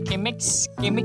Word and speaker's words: Chemex: Chemex ya nyebutnya. Kalau bahasa Inggris kan C dibacanya K ya.